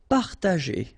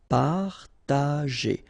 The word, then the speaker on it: partager: Partager, okay, parta, and then here, G and E after, well, R in that case, it's the sound E, so you pronounce it J, G, okay, partager, partager.